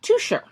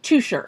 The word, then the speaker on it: Teuscher: Cafe Touche. Nope. It's pronounced Toucher. Seriously? It's from Switzerland. The fuck? Instead of Germany. If it was from Germany, it would be Teuscher. But it is from Switzerland. It is pronounced Toucher.